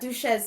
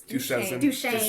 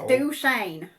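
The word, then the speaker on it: Duchesne: It's not Duchez, Nikas. It's Duchain. So, you know, you got to say it like a Utah. Duchine.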